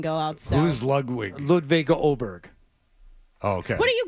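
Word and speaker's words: Åberg: Okay, how do you pronounce his name? The A with the O on top of it. Oberg. It's Oberg. It looks like Okay. Aberg, but it's Oberg.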